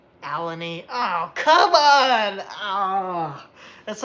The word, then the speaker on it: Allegheny: lot of fun okay dan says it's pronounced allegheny all right alani oh come on ah